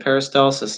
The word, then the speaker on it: peristalsis: down okay very good Val you got it peristalsis is witchy ha that's pronounced very good peristalsis and not propels food and liquid slowly down